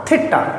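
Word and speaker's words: theta: उसका रीडिंग होता है टी एच ई टी A pronunciation होगा थीटा।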